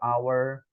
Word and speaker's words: hour: Kalau hour kita bacanya pakai tanpa h-nya disebutin. Jadi pakainya an hour.